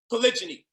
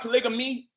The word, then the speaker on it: polygyny: Polygyny. It's not polygamy or whatever the way you was pronouncing it, is polygyny.